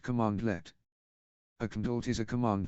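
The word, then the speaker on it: cmdlet: Powershell command is called a condort pronounced commandlet a condort is a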